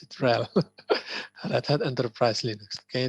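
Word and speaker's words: RHEL: they call it real okay hell that's that's how you that's how you pronounce it rel that had enterprise linux okay there is no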